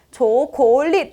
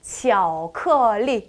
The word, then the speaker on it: 巧克力: 초콜릿은요. 초콜릿 아니죠. 巧克力 한 번 더요.